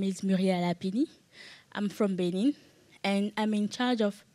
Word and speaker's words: Benin: I'm from Benin, and I'm in charge of Internet School of Governance in Benin. So it's my first time here, and I want to... I'm from Benin, not Berlin. Benin.